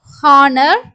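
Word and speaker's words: honour: வரும்போது வந்து சைலெண்ட் ஆகும் எக்ஸாம்பிள் வந்து ஹவர் ஏர் ஹானர் ஹானஸ்ட் ஹவர் சோ இங்க வந்து ஹச் சவுண்ட் இருக்கற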